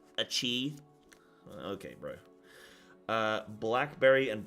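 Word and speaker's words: açaí: going to come in it's not pronounced AI it's pronounced a chei okay bro uh blackberry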